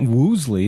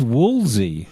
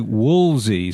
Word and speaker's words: Woolsey: again first of all it's not Woosley it's Woolsey I don't how do